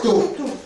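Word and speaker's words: tô: Ça s'appelle le taux, ça s'écrit T-O. C'est T-O, taux.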